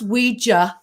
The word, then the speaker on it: Ouija: So, and it is pronounced Ouija phonetically, because back in the day when they sold the planchette in the box, the board with the box, it actually said, pronounce it Ouija. They gave the phonetic spelling.